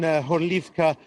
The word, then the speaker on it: Horlivka: Today I spent most of the day in Horlivka, according to its Ukrainian name, or Gorlovka, which is what all the residents of that city call it. That's the Russian pronunciation.